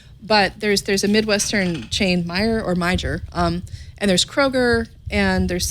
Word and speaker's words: Meijer: I think it's pronounced Meijer. It's got a J in the middle of it.